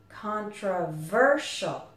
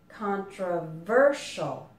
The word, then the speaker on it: controversial: in controversial the stress is on the verb controversial four syllables again controversial and you also might notice that the S